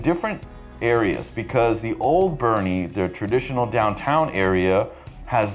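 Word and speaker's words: Boerne: a suburb called bernie i know it sounds like born texas but it's actually pronounced bernie texas bernie is a really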